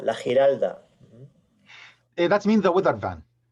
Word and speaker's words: Giralda: It is called, can you pronounce it, Mr. Alberto? What is word? The Giralda, la Giralda.